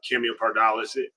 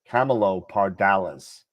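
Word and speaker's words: Camelopardalis: fall the October uh cameo paral Cho Paralis oh we're told in the chat the actual pronunciation of it is Camelo Camelo parales Camelo parales all right thank you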